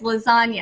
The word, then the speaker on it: lasagna: you think about it, if you pronounce the G in lasagna, it would be lasagna, but that's not how you say it. It's lasagna. So it's a silent G.